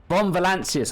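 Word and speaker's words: von Valancius: the Fon fanus anals Fon valancius okay so that's how you pronounce it deliver their demise success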